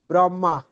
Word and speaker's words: ব্রহ্মা: ব্রহ্মা এই যে আমরা বাংলায় বলি ব্রহ্মা। এখানে কিন্তু আছে কি? হ আর ম তারপর আকার ব্রাহমা। এভাবে করে উচ্চারণ করলে এটা হচ্ছে পারফেক্ট।